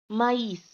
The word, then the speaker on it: maïs: Now the next example is maïs. Okay. Now the condition of this accent is that both vowels must be pronounced.